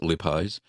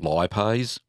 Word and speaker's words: lipase: It's pronounced a couple of ways. Well, I pronounce it lipase. I think in the US it's called lipase.